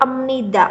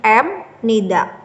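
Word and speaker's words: 입니다: Nah, ini nanti bacanya emnida, sebenarnya M nida. Gitu. Kenapa ini dibaca M? Karena B ketemu N itu di Hangul di bacim itu namanya bunyinya M.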